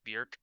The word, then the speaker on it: Björk: It's Björk, rhymes with jerk, to quote her.